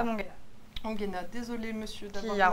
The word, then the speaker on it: Tom Ongena: C'est Tom Ongevan, il me semble. Mais je ne suis pas sûre exactement de le prononcer correctement. Ongena, pardon. Voilà. Tom Ongena, désolé monsieur d'avoir qui a remplacé votre nom.